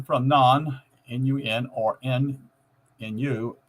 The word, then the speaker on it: Nun: Adding the letter N from non, N-U-N, or N-N-U, pronounced nun, meaning fish, confirms the Anki association